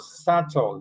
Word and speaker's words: subtle: Listen to this word. SL. You don't pronounce the B.